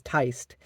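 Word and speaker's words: Tiste: It is just, sorry, not Tisti. I've learned, I did that to make you all mad at me again. No, I've learned from my mistakes. It is Teist. I've learned the correct pronunciation at this point.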